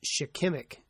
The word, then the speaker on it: shikimic: It's shikimic. I mispronounced it wrong, and I do not want to go back and redo it. It's shikimic acid.